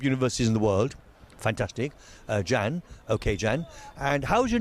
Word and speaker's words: Can: Jan. Okay, Jan. And how's your name spelled? Jan? C-A-N. Oh, it's C-A-N. This is a Turkish C. Okay, so C-A-N, but pronounced Jan.